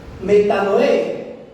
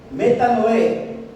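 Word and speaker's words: μετάνοια: reconoce el arrepentimiento y en griego se escribe y se pronuncia metan Noé metan Noé que quiere decir arrepentirse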